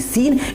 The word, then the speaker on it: scene: बात कर रहे हैं वो है SCENE, सीन। इस सीन का मतलब होता है दृश्य। ओके फ्रेंड, तो अब आप समझ चुके होंगे यहाँ पे एस के बाद सी है, इसलिए सी साइलेंट।